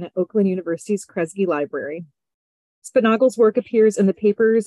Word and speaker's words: Spunaugle: And today it's my absolute pleasure to introduce this talk by Spunaugle. Did I pronounce that right? I always worry I'm going to get it wrong. Spunaugle, yes. Spunaugle, great.